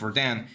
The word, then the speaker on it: Rodin: I think it's pronounced Rodin, but it's written Rodin, R-O-D-I-N.